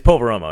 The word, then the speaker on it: Poveromo: It's Poveromo, yeah.